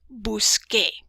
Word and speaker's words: busqué: Por ejemplo, buscar en la forma yo cambia a busqué. Momentito en inglés. So we change the C to a QU to give us the K sound, just like when we say ¿qué pasa?